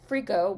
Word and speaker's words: FRKO: and all that stuff uh born richard montgomery freako which is spelled f r k o in all caps frico's work has come to define atlanta's contemporary art